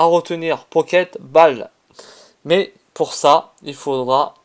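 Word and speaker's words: Poké Ball: Le nom c'est Pocket Ball, c'est pas Pinball comme j'ai l'habitude de le prononcer.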